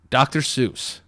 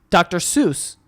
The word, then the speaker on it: Seuss: Seuss like Cat in the Hat dr. Seuss yeah that's wrong his name is zoo is dr. Suez no it's dr. Seuss yes he's doctor so he's doctor sois like soy sauce yes soy sauce a